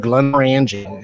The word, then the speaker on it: Glenmorangie: 1.5 ounces of Glenmorangie. And that's the proper saying of it too.